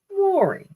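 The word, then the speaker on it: Mowry: the entire time she's been in television it's Mory and also found out that I've been pronouncing her sister's name wrong it's Tamir not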